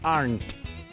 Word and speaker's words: aren't: Are not se contrae aren't. No se pronuncia la E.